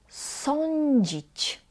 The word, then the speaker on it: sądzić: Then we pronounced on as oń, oń. Sądzić, sądzić.